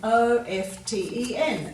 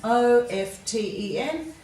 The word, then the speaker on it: often: words and once again please yourself whether you say often or often they're both acceptable to them this is